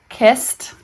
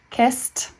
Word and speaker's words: kissed: Like kissed, kissed, kissed. Sounds like t at the end.